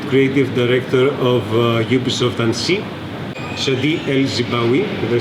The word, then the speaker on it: Chadi El Zibaoui: This is the Associate Creative Director of Ubisoft Annecy, Chadi El Zibaoui.